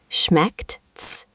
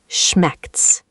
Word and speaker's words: schmeckt's: The start has a sharp sh sound, and then a hard K and a T at the end. Schmeckt's. The ending should click. Try once more. Schmeckt's.